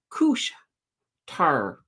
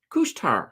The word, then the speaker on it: Couche-Tard: Look, Nutrium, Alimentation, Couche-Tard. Couche-Tard. Haha, there we go. They're down. I've been learning that I've been saying the words wrong for alimentation. Couche-Tard. Supposedly that's how it's said.